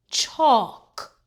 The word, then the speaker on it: chalk: L K says C. The L is silent. Chalk.